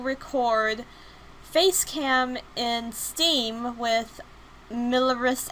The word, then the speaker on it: Mirillis: FaceCam in Steam with milleris action I think is how it's pronounced I really don't know